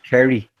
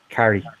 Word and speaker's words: Kerry: Like, because I guess I chop it because it's two syllables when he says it, and it's one when I say it. Carrie.